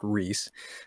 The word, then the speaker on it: Rhyce: my stage name is Rice Records. Uh it's Rh Y. Uh which is actually an old Welsh spelling sometimes pronounced Ree.